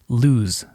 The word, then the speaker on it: lose: The single and double O actually tell you how to pronounce the S.